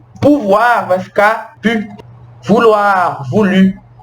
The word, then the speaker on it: pouvoir: Por exemplo, os verbos terminados em OIR, que a gente vai falar UAR, tá vendo? Então os verbos que terminar em OIR em francês, mas a gente vai pronunciar OIR como UAR, são os verbos vouloir,